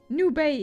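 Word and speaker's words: nube: New Bay is how it's pronounced, as new Spanish for cloud.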